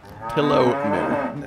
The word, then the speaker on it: Paolumu: Like pillow and then moo. Paolumu. I mean, the way that his name is spelled, not like a cow.